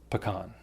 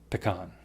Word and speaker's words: pecan: Pecan. Pecan. Pecan. Pecan. Pecan. It's basically your decision to choose the vowel and say it however you feel like.